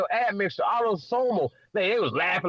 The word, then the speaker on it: autosomal: Then he said some shit like he couldn't even pronounce autosomal, right? He said autozone.